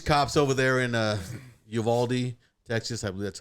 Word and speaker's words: Uvalde: talking about these cops over there in uh uvalde texas that's how you say it and uh